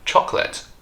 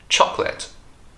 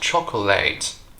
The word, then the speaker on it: chocolate: not least we have chocolate chocolate it's not chocolate there are only two syllables in this word choc let choc notice